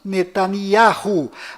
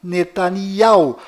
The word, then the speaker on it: Netanyahu: bom volta no assunto fora de israel o nome deste primeiro-ministro é pronunciado benjamin metaniarro mas dentro de israel o nome dele é pronunciado benyamin netanyahu confira fora dentro fora benny